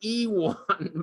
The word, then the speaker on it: Iwan: His name is spelled Iwin. Apparently it's really Iwan, but we call him Ivan and he never gets mad.